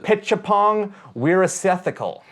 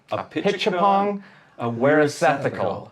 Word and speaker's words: Apichatpong Weerasethakul: So I'm going to pronounce it right now. Oh, it's Jesus. Apichatpong Weerasethakul. Apichatpong Weerasethakul. I wish I set up like that bouncing ball so I can be like Apichatpong Weerasethakul.